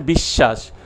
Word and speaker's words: বিশ্বাস: শব্দের শেষে বা মধ্যে বফলা থাকলে সেই বফলা অনুচ্চারিত এবং যে বর্ণে যুক্ত সেই বর্ণ দ্বিত্ব হয়, যেমন বিশ্বাস, ভূস্বামী, বিশ্ব।